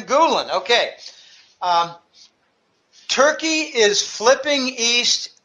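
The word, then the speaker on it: Gülen: poconos of Pennsylvania named Gulen or I don't know I don't care how you pronounce his name it sounds like it looks like gol en Gulen okay turkey is flipping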